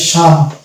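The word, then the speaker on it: psalm: আর এখানে পি কে বাদ দিলে শুধু আসবে দন্ত স, তাহলে এটা হয়ে যাবে শাম। তাহলে এই শব্দটার উচ্চারণ হবে শাম, অর্থাৎ এখানে পি উচ্চারণ আসছে না, কেননা পি এবং এস পাশাপাশি বসেছে।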